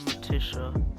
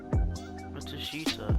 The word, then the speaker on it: Matsushita: We're closing in on Matishwa. Matishita. That's his name. I've been saying his name wrong the whole time. Matishita. That's how you say his name.